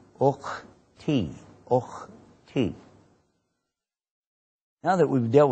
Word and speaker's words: ukhti: And when it's a girl, there's a difference in Arabic for the girl or boy, so you say ukhti, ukhti.